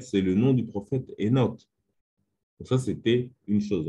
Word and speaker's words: Enoch: le nom de Enoch, il y a un H qui est devant. Souvent, il est prononcé de façon muette. Donc, on dit Enoch, au lieu de dire Kenok ou Kanok, etc.